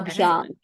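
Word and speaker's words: abhyanga: y a n GA a abang is how we say it here Aang okay doing it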